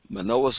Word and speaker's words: Manoah: Danites whose name was Manoah and his wife was barren and bare not okay some pronounce manoa men aha Manaka oh but he was from